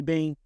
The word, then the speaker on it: Bean: I am Bean, and for those who don't know, it's Bean as in like jelly bean, is how you pronounce it, Bean.